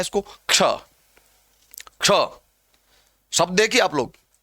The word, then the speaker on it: क्ष: क्ष है। इसका उच्चारण दरअसल इस तरह होना चाहिए।